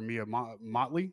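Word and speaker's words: Mia Mottley: thing Barbadian prime minister Mia Motley I believe is how it's pronounced is considered an ally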